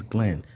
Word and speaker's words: Glen: My name is Glen. Rhymes with hen.